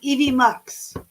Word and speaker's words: EVMux: I'm using EV Mux. EV Mux. Is it Yes, spelled like that?